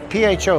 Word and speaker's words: pho: No, pho. P-H-O, but it's pronounced pho, I've been told by a Vietnamese person once.